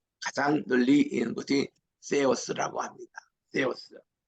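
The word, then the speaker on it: Θεός: 널리는 것이 세우스라고 합니다 떼우스 이거는 세타 할 때 쇠었어 이렇게 발음하는데이 알림의 이름이 엘로힘 L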